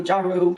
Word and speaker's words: gyro: You pronounce it gyro, gyro, however you want to pronounce it.